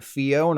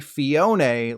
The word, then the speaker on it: Phione: But if you did know about it, you've probably been calling it Phione all this time. I'm sorry to inform you that it's actually Phione, like Escaflowne.